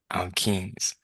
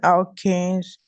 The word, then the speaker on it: alkene: number two alkanes, and number Alkenes, three alkenes. alkynes. Pronounce it properly, not alkane. Alkene, Alkene, yes. In. Just like the way you pronounce I-N, in. So you pronounce it as alkenes.